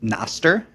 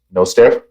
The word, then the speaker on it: Nostr: It has Latin roots, and so if you adopt the take that it's based on the Latin word noster, which means ours, then it would probably be pronounced Nostr or Nostr.